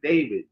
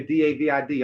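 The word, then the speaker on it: Deyhwihd: I'm saying my name is David. David with a W, not your D-A-V-I-D. My name is spelled D-E-Y-H-W-I-H-D. That's how you spell my name, David. That's how you pronounce my name, David.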